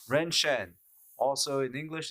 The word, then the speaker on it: 人参: So the character ginseng is pronounced Ren Shen.